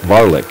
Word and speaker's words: Varlick: I was pronouncing his name wrong, and he made sure I came out to practice a couple weeks ago, and he made it a point to tell me it's Varlick.